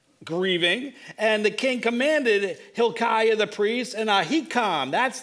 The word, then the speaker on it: Hilkiah: say this guy's name iah is really yah so it's okay anyway forget hebrew hilkiah hilkiah the priest has given